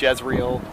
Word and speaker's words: Jezreel: Sometimes we pronounce it Jezreel Valley in English, also known as the Valley of Megiddo or the Plains of Megiddo.